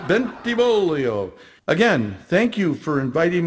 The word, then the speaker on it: Bentivolio: have an additional problem people have the toughest time pronouncing my name it's pronounced bentivolio again thank you for